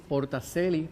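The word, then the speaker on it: Porta Coeli: Nosotros decimos Portacelli porque es en latín, y ese era el lenguaje que usaba la Iglesia Católica para ese tiempo. Portacelli sería en italiano, Puertas del Cielo en español, y Portacelli como se lee.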